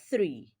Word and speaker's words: three: Remember that the first H sound in the word three is a voiceless dental fricative th.